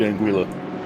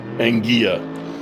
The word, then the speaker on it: Anguilla: and the Wikipedia page, that is indeed Anguilla. Or, I guess, if you are hyper-Espanol, Anguilla. But that's not what it says here on Wikipedia. Indeed. But it might be funnier to pronounce it the Spanish way.